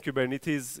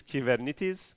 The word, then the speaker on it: Kubernetes: For the rest of you, Kubernetes, it's a Greek word that everyone mispronounces. The right way of saying Kubernetes in Greek is Kubernetes, but unfortunately everyone says Kubernetes, and including me now.